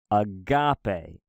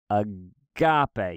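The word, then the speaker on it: ἀγάπη: had lost tonality and the accents just meant stress so it means you say that syllable a little bit louder and a little bit longer so for example for the word agape you say agape agape you try to pull up punch on the accented syllable R for for the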